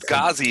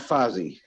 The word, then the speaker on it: Ghazi: Well, Ghazi is the name she gave you. Ghazi, Yeah. okay. Not Fozzie. Not Fozzie Bear, Ghazi. And she pronounced it a little funny. It was she's obviously injured, but she was like, it was like Ghazi kind of thing.